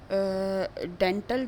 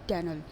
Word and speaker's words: dental: डेंटल जिसको हम commonly बोलते हैं, इसका जो करेक्ट प्रोनाउंसिएशन है इट वुड बी डेनल. ठीक है. सो टी जो है it will be very softly pronounced.